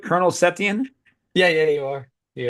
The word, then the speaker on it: Setien: Is that Yeah, the am I bug pronouncing that catcher. right? Colonel Setien?